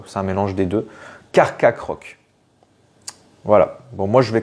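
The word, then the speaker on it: Carchacrok: doit le prononcer enfin il devrait être prononcé carc croc ah c'est dur à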